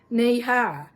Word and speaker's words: Nehi: up to the knee, suggesting the phrase knee-high, K-N-E-E-H-I-G-H, to illustrate the correct pronunciation of the company name.